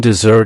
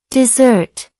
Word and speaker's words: dessert: The stress falls on the second syllable. Here's an example. Would you like some dessert after dinner? Now repeat after me. Dessert.